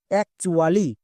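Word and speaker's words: actually: করি next word দেখো যেমন একচুয়ালি এখানে টি এর জন্য টো কিন্তু হচ্ছে না টি এর জন্য এখানে চ হচ্ছে তাহলে আমরা বুঝবো কি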